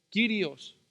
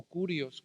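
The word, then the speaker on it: κύριος: En el idioma griego es kyrios o kurios, como lo quieras pronunciar.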